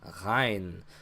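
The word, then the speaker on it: غين: Hein. So kind of like a G, not a G. So technically, the Arabic language does not have a G sound.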